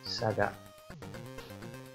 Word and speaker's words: Sagat: Come on in, Sagat.